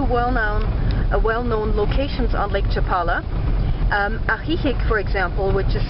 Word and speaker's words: Ajijic: Ajijic, for example, which is spelled A-J-I-J-I-C, is very well known for being a retirement location for a lot of Canadians and Americans.